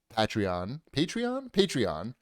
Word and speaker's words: Patreon: He's already started a podcast that is on Patreon is how you say it.